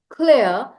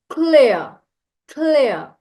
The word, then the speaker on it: clear: The R at the end of the word clear is not pronounced. It's a silent R. So I need to clear. I need to clear my head.